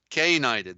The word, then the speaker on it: knight: They get night. That's the silent K. Then you got they're K-nighting them. That's what it is. The K being a silent K is a code for K-nighted, the cane.